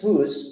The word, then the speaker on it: whose: Okay, the pronunciation is whose, don't forget.